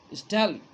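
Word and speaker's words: von Stahle: That's why he wrote himself as captain वॉन स्टेल। इसमें एच की आवाज़ silent होती है, स्टेल। उसने अपने आप को कैप्टन के नाम से लिखा और एक्सेप्ट किया।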